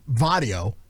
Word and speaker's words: barrio: i say it right the barrio there's a b they say it with the v that's all i